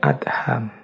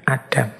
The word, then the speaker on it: Adham: Bismillahirrahmanirrahim Syekh Ibrahim Bin adham membacanya memang bin adham bukan bin Adam nama lengkap beliau Ibrahim